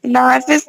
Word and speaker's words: knives: don't pronounce the K. Knives on it.